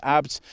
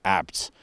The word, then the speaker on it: ABT: Now, ABT, or ABT, but it's a family name, so the pronunciation is ABT, is a German performance company.